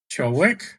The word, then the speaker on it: Ciolek: So my name is Ciolek. Got it. Ciolek. Can you say that? Ciolek? Ciolek. Ciolek. Okay. Ciolek. Ciolek. I think the accent's on the last syllable.